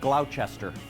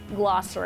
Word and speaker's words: Gloucester: Okay, that looks like Gloucester. Okay, it's actually Gloucester, according to the locals.